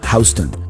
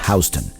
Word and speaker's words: Houston: Houston. It's spelled like the city of Houston in Texas, but pronounced Houston. Houston Street is the boundary